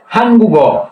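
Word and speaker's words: 한국: কিন্তু যখন এরকম বাসমে থাকবে এরপরে যদি সরল বর্ণ থাকে তাহলে এই গীয়কটা উপরে যেয়ে গীয়কের পূর্ণাঙ্গ উচ্চারণ হবে। তখন কি উচ্চারণ হবে? গ উচ্চারণ হবে। হান গুগ।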